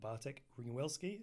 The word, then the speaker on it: Bartek Ringwelski: Bartek Ringwelski. Is that the way to pronounce it?